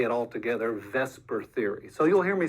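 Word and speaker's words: VSEPR: special name it's called Vesper and I know it doesn't look like it's pronounced but it stands for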